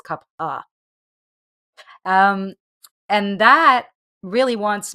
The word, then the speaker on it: kapha: A lot of people mispronounce this as kapha. It's with a ph, but it's kapha.